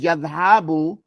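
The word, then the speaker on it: يذهب: The first one is yadhabu from yaf'alu with a fatha ala ayn al kalima. There's a fatha on the middle of the word.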